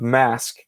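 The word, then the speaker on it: Masque: This is the first appearance of Mask, which initially is spelled M-A-S-Q-U-E, but is also a mask.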